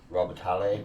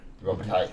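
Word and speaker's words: Robitaille: The original Candyman, Daniel Robotale. Robbit. Robbital. Thank you. I completely butchered that.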